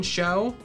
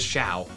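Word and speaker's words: Mienshao: Mean Foo and Mean Show. Mean Shao, not the most phonetically best pronunciation stuff, because I'm pretty sure it's not show, it is Shao.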